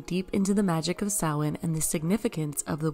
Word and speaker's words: Samhain: It looks like it's written Samhain, but it's actually pronounced Samhain.